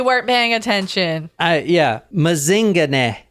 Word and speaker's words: Mazingane: paying attention I yeah mazing and that is how you say it too cuz I actually heard heard someone in South Africa say it oh like Lazarus mazing that is him right here this